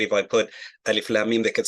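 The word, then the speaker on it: الم: Everybody can pronunciate. If I put alif lam mim, they could say alam.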